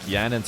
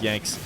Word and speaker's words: Yanxnzz: To be fair, I think I heard some casters call him Yanks, so that's what I'm going to go with, because I'm assuming casters did the research. I was doing some research on how to say his name. I watched some player videos and stuff who played against him, called him like Yanxnzz, or weren't really sure.